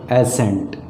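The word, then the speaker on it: assent: Agreement, that is called एसेंट। Right. और एक इसी से मिलता जुलता अगर फोनेटिक साउंड की बात किया जाए तो सेम प्रोनाउंसिएशन है, और वो क्या है, ASCENT, एसेंट।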